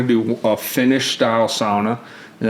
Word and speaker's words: sauna: Finnish style sauna, and that's how you say it correctly. Me and Chelsea, we still say sauna, but in the accurate sense, you would say a Finnish style sauna, which is gonna be Sauna.